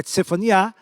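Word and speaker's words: צפניה: É Sofonias, a pronúncia é Tsefaniá, que significa o Senhor esconde.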